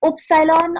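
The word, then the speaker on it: Ypsilon: I mean, it's because the U is having two dots on it, so it's upsilon or it's upsilon.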